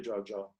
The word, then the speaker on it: Jojo: jar who will uh am i pronouncing your name correctly jojo yes yes so then she will